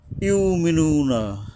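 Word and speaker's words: يؤمنون: ইউমিনুনা অনেকে অনেকে ইউক বলে। আসলে ইউক আসে না। আমি আমার ওস্তাদের সাথে এই শব্দটা নিয়ে কথা বলেছিলাম। কিন্তু উনিও চিন্তাভাবনা করে বলছেন ইউমিনুন। মানে এটা হলকের গোড়া থেকে শক্তভাবে উচ্চারণ হবে এইযে ওয়াও ইউ আবার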